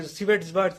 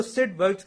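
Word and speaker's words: Svedberg: वी यहाँ पे silent होता है, इसको वी का कुछ नहीं, सिवेट्सबर्ग्स नहीं बोलते, इसको सिडबर्ग्स यूनिट कहते हैं।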